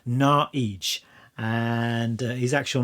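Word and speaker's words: Naux: At least I thought it was supposed to be pronounced No, but doing a little bit of research on the internet tells me that you're actually supposed to pronounce it Naij.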